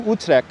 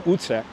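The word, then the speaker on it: Utrecht: Dutch settlement of new utre and notice how I'm pronouncing utre correctly not I'm not not calling it utre that's how we pronounce it here in Brooklyn e it's correct pronunciation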